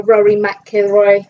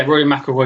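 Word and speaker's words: Rory McIlroy: pulled out out of their competition like our Rory mckoy Rory yeah Rory maoy is pulled out yeah that's how you pronounce his name English isn't your first language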